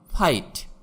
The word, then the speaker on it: fight: যেমন ফাইট, FIGHT, এখানে GH এর উচ্চারণ হবে না। ফাইট মানে যুদ্ধ।